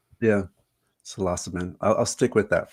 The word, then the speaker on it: psilocybin: It's it's quite interesting but um I I I forgot the salassabin because it academically is correct but I've never ever corrected anybody otherwise. Yeah, salassabin.